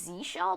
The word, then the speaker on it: zsh: I think the official pronunciation is Z shell, but I'm just gonna say ZSH just to tick people off.